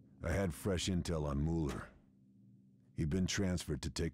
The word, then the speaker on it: Müller: How are you supposed to say it? Müller. Müller. Like a U.